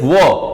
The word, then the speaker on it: one: It is started with O, but pronunciation is wo.